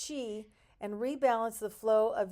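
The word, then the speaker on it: qi: on neural paths called meridians to unlock key pronounced Chi and rebalance the flow of Yin and Yang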